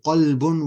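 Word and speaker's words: قلب: Yeah, so what I said is kalbun with a kaf means dog, and qalbun with a qaf means heart.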